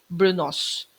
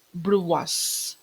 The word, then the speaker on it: brunoise: That is a French term pronunciation. Pero kung American English, brunos. Okay? American English, brunos. Pero kapag tinranslate na natin siya sa French term, pronounced as brunoise.